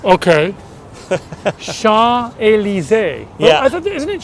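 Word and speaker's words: Champs: to pronouncing this is you don't pronounce the M the P or the S okay sha El I thought isn't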